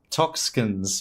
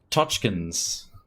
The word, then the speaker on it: Tochkins: I realized I was saying Toxkins before, but it's Tochkins. If you're going to pronounce it properly in Polish.